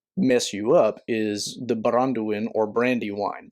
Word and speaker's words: Baranduin: you up is the baranduin or brandywine brandywine is not a translation of baranduin it is a like lazy mispronunciation of baranduin uh i believe baranduin